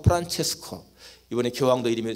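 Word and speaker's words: Francesco: 우리가 아는 그 성 프란시스, 아시시 성 프란시스는 영어 발음이고 이탈리아 발음으로는 성 프란체스코, 이번에 교황도 이름이 성 프란체스코잖아요.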